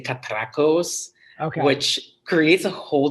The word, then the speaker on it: Catrachos: I'll sorry sorry uh so it's katos but some people I think that I've seen